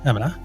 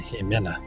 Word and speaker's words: Jimena: Well done, Emina. I'm sorry, I need to pronounce her name the right way. Jimena. There we go.